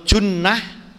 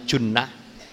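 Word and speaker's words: جُنّة: bacaannya lain maknanya jauh Jim Nun ta Jannah Nah kalau bacaannya Jannah itu artinya surga kalau junnah itu artinya perisai Sama tulisannya Tapi bacanya junnah asiyamu junnatun minanar puasa itu junah perisai dari api neraka kalau jinnah itu jin jinnah Nah itu jadi ayat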